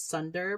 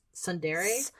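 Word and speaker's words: tsundere: I always want to say it's Sunder, but it's Sundere. Sundere.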